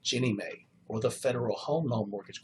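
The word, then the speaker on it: Ginnie Mae: National Mortgage Association or is pronounced or abbreviated Jenny May or the Federal homeown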